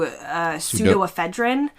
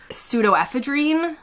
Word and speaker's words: pseudoephedrine: In the US, we tend to say something similar to pseudoephedrine. In the UK, they say something closer to pseudoephedrine.